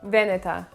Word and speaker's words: Veneta: it pronounced that way so it should be pronounced veneta i mean you don't have to say with a huge italian accent but kind of split the word up into two syllables veneta botega veneta the